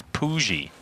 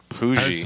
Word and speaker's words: Pooji: I believe the correct way to say it is Pooji. Pooji.